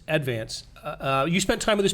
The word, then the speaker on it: Advance: Not Advance. Advance.